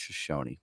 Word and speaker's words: Shoshone: It's pronounced Shoshone, but dang it.